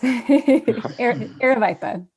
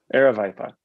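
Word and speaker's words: Aravaipa: it wrong, but the Aravipa special event application. Julie, can you correct my pronunciation? You're so close. Aravipa. Aravipa. You're basically there.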